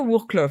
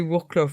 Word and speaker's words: Wrocław: Dans un coin isolé de la rivière Oder, près de la ville de Wrocław. Ce n'est pas Wrocław, c'est Wrocław. Wrocław, comment on dit ça, les gens? Wrocław, ce sera Wrocław, et puis c'est tout.